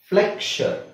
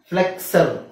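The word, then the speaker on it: flexure: crucifixion ಕ್ರುಸಿಫಿಕ್ಷನ್ ಆಮೇಲೆ ನೋಡಿ ಫ್ಲೆಕ್ಷರ್ ಫ್ಲೆಕ್ಷರ್ asexual bisexual ಈತರ ಬಂದಾಗ ಅದನ್ನ ನಾವು x ದು ಸೌಂಡ್ ಸು ಅಂತ ಹೇಳಕಆಗಲ್ಲ ಫ್ಲೆಕ್ಸರ್ ಫ್ಲೆಕ್ಸರ್ ಅಂತ ಹೇಳಕಆಗಲ್ಲ ಎ ಸೆಕ್ಷುವಲ್ ಅಂತ ಹೇಳಕಆಗಲ್ಲ ಸೆಕ್ಷುವಲ್ ಫ್ಲೆಕ್ಷನ್ ಕ್ರಸಿಫಿಕ್ಷನ್ ಅಂತನೆ ಹೇಳಬೇಕು ಓಕೆ ಅರ್ಥ ಆಯ್ತಲ್ಲ ಸೋ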